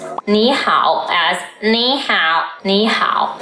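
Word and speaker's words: 你好: Both of the characters are third tone, but when two third tones are together, the first third tone becomes the second tone, so Xiaoma becomes Xiaoma.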